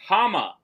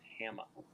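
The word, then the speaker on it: Háma: The question is, the character Hama serves as captain of the guard under which Middle-earth king? Also may be pronounced Hama. You had it right the first time.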